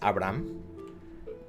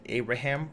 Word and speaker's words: Abraham: In Spanish, it's pronounced Abraham. But in English, they usually say Abraham, or as I prefer Abe.